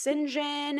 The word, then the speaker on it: St. John: John is pronounced singen and I'm fine with that.